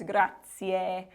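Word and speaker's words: grazie: this one gra and you might have heard gratzi um probably grai maybe you've seen The Godfather and then that's how they say it in the movie the technical pronunciation is grati so another note when you're in Italy you're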